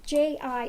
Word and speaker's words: ji: play on words G ji is a title showing respect pronounced the same as G so Swami G is